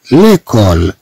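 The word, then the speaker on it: l'école: ثم عندنا ليكول، ليكول، إذا دائما عندنا سي أو تنطق كو، ثم عندنا سي أو تنطق كو، ليكول المدرسة، ليكول.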